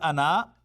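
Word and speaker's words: أنا: You know, it is written as ana, but read as ana. Alif is not pronounced.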